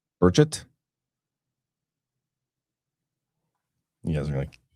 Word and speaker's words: Burchett: Burchett? Is it Burchett? Now I'm confused. No inflection on the last syllable. Burchett?